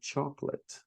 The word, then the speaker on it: chocolate: right to the L, chocolate. We don't say chocolate, chocolate. Chocolate is what you might say. But we say chocolate, so we don't pronounce that second O.